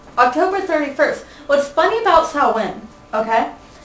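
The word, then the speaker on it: Samhain: the first holiday that we come to is sawin and it's actually it looks very much like it's would be pronounced Sam ha but it's SN so um the pronunciation of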